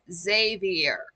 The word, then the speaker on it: Xavier: Um, if you see an X at the start of a name, it's pronounced like a Z.